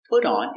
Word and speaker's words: put on: The T is pronounced with a D. Put on. And sound. Not poo, but pu.